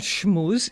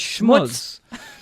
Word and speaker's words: schmooze: That is not the Yiddish pronunciation of schmooze. It's not schmooze. It's schmutz.